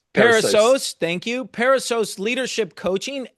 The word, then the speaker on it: Perissos: Now Paul is the founder of Pariso. Paul pronounced that. I knew I was going to botch that word. Peros. Parasos.